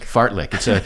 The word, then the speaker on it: fartlek: Fartlek. It's a Swedish word, F-A-R-T-L-E-K, fartlek. Uh-huh. Yeah, be clear we spell that right.